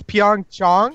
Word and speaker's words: Pyeongchang: It's Pyeongchang, Pyong- but it's spelled like CHA.